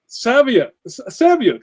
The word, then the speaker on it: Saviuk: Saviuk.